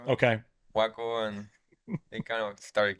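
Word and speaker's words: Joaco: Yeah, I gotta kind of like learn instead of Juaco with J, I gotta say like try to say Juaco with like a W. Okay. Juaco, and they kind of started getting it.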